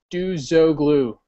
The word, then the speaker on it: Duzoglu: My name is Duzoglu. That's how you pronounce it, Kevin. Duzoglu. Not that hard, right?